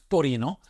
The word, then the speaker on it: Torino: So we went from Milan over to Turin, Torino, as it's pronounced in Italian.